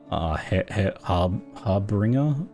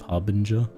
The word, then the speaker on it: Harbinger: it's just cuz uh Harbinger is often mispronounced as like har harbringer instead of Harbinger so then one step